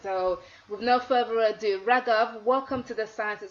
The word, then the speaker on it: Raghav: really exciting episode so with no further ado wrecker welcome to the size of success with job